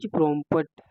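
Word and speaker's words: prompt: इसके बारे में इ प्रमप है प्रमप है सॉरी इसका प्रोनंसिएशन है व प्रमप है इसमें टी साइलेंट है प्रोम ईच प्रमप है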